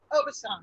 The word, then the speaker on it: Aubusson: I can't pronounce. Is that Aubusson? Aubusson, yeah.